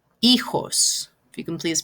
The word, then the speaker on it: hijos: And remember, H in Spanish is not pronounced, it's silent. So we're going to start with the E, the I. So it's, remember, J is more like an H sound.